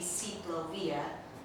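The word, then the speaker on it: ciclovía: But the actual word comes from Bogota, Colombia, and it should be an I instead of a Y. It should be Ciclovia, which means bicycle path.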